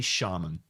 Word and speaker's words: shaman: Because literally 100% of British people, before they start making World of Warcraft content, they say shaman. There's not a British person in the world who doesn't naturally say shaman.